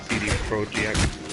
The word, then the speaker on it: CD Projekt: is CD Projekt Red, which is pronounced a little different because it's a Polish company. It's like CD Projekt or something like that.